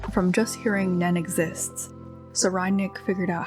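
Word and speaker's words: Tserriednich: I just like to pronounce it Saraidnik because it has both the soft sound at the beginning and the harsh K sound at the end, which emphasizes his duality,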